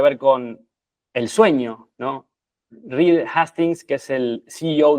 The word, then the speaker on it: Reed: Vale aclarar que irónicamente Reed en inglés sería como leer, ¿no?